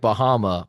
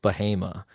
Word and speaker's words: Bahama: it looks like Bahama, but it's pronounced Bahama.